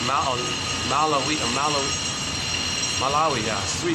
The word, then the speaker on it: Malawi: Malawi has three syllables, Malawi, yeah, has three syllables.